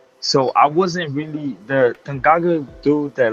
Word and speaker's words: Tanganga: Tangaga? I can't even Oh, pronounce his name right. Tanganga.